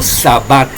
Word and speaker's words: sabbat: un sabat sabaton porque en griego la letra Shin no existe en griego existe la letra sin Entonces shabat no se puede pronunciar ni escribir como shabat porque solamente se puede decir o escribir como sabbat queridos igual la palabra shabat